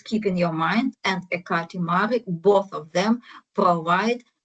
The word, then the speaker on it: Ekati: So Ekati, it's a Greek pronunciation of the ancient Greek goddess, a goddess, Hekate.